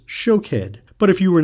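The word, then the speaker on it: שֹׁקֵד: Almond is shakhed and watch is shokhed.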